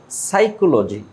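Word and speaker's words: psychology: তারপর সাইকোলজি, সাইকোলজি, পের উচ্চারণ হবে না, সাইকোলজি, সাইকোলজি।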